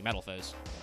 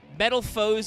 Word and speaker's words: Metalfoes: of metamorphosis and metal metal foes as kind of like a weird pronunciation of metal fuse i think works though